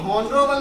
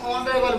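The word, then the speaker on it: honorable: सर उच्चारण में इसको हम क्योंकि इसे हम हॉनरेबल नहीं बोलेंगे, इसे हम ऑनरेबल बोलेंगे। ये एच जो है ना इसे हो न बोल करके इसे कट्टा करके हम बोलेंगे ऑनरेबल।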